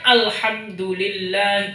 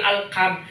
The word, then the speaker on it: alhamdulillah: Misalkan alhamdulillah, bacanya alhamdulillahi. Misalnya alhamdulillah jadi alkam.